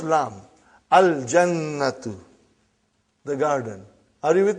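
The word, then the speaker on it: الجنة: You will pronounce Lam. Al-jannatu, the garden.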